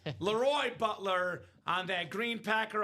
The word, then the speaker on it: LeRoy: Now, isn't it pronounced Loy? Leroy Butler. Leroy Butler. Not Leroy. Laroy Butler on that Green Packer authentic.